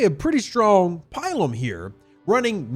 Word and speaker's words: Pilum: Now, or as it should be properly pronounced, Pilum.